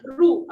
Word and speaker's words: roux: So what we are going to prepare, it has a very culinary, एक बहुत typical culinary term है, which is called as roux.